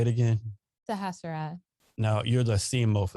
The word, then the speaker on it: Sahasrara: Sahasrara.